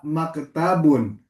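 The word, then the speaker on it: مكتب: Hadza maktabun. Tanya-nya pendek. Maktabun.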